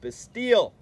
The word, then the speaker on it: Bastille: That is what that video you watched on Wednesday was with the Bastille.